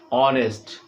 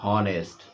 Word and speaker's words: honest: Just in your example you are looking, he is an honest student. So H is the consonant word, but the sound is vowel, just like vowel when we are pronouncing it honest, not honest.